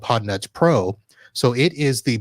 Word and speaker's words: Podnutz: Podnutz Pro, and then tell us a little bit about your podcast. All right. So Podnutz Pro is spelled Podnutz. So almost like it sounds, except with a Z.